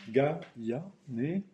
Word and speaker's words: Gaillanet: Donc Gaillanet, vous voyez, il y a cette courbe qui descend, qui remonte, ça ferait Gaillanet. Enfin, en fait, la première syllabe et la deuxième devraient être accentuées.